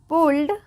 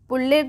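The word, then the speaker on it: pulled: है anywhere that anyone पुल्ड पुल्ड पुल्डेड नहीं पुल्ड इट on four wooden क्या पढ़ेंगे?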